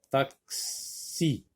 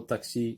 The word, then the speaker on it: taxi: Taxi, taxi. On entend k et s. Taxi.